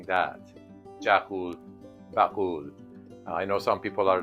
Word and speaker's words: Jaghool Baghool: the way the traditional name for it is jul bakul try pronouncing that jaul bakul I know some people are laughing right now